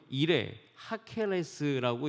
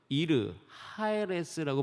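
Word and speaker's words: 이르 하헤레스: 그 도시 이름이 뭐냐면 이레 하케레스라고 일컫습니다. 이레 하케레스. 발음도 우리 가운데 어색한 그 도시예요. 그 도시는 이 애굽의 대표적인 태양신을 숭배하는 도시예요. 근데 멸망의 성음이 어떻게 발음되냐면 이르 하에레스라고 발음됩니다.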